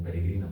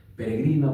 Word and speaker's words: peregrina: Y como dato curioso hay dos poemas en Castle Bárbara que se llaman siempre peregrina, paloma, imaginaria. Sabemos que peregrina tiene el acento en la penúltima gr.